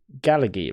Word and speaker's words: Gailliegue: Gailliegue, right? Is that my pronouncing that right? Gailliegue, yes, it's close enough.